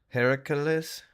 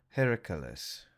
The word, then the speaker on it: Heracles: as Herc Look at how they spelled Her Heracles, Heracles, Odysius, and Hector. That's not Hercules. If it is supposed to be Hercules, it's spelled weird. Heracles.